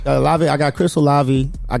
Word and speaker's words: Olave: That's how you pronounce his name. Olave.